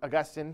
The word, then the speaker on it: Augustine: don't y'all know who Saint Augustine is or Agustin however you want to pronounce it depending on your flavor so Agustin slash Augustine